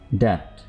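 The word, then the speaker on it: debt: उधार क्रेडिट कर्ज ट इसमें डी बी प्रोनाउंस नहीं करें डेट नियत इंटेंट मसलक कल्ट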